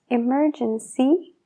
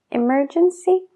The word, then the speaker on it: emergency: Emergency y bicycle. Emergency y bicycle. La CY se pronuncia como SY.